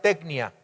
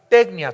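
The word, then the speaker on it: τεκνία: primero y dice hijitos esa palabra es tecnia con k en el griego tecnia os escribo a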